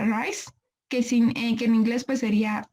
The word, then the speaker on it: RICE: Y ya en el tratamiento no farmacológico se va a basar en las siglas en inglés, se pronuncia RICE, que en inglés pues sería Rest, Ice, Compression